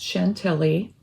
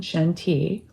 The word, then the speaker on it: Chantilly: Chantilly was made for the American market, and so it was meant to be pronounced Chantilly instead of the French pronunciation, Chantilly.